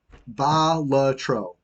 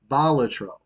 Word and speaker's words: Balatro: Maybe it was an indie developer, but like it's Balatro. Balatro. That's how you pronounce it.